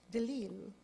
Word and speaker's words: De Lisle: I bet you were delighted, seeing that your name is actually pronounced Delisle.